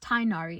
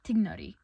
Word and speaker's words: Tighnari: They might also believe that this name is to be pronounced Tainari and not Tignari.